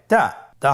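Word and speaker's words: ت: তা হরফটি বারিক হরফ এবং এক আলিফ টেনে পড়তে হবে। আপনারা আমার সাথে বলুন তা। আবার বলুন তা। তায়ের মাখরাজ কোন জায়গা থেকে? জিহ্বার আগা সামনের উপরের 2 দাঁতের গোড়ার সঙ্গে লাগিয়ে উচ্চারিত হয়।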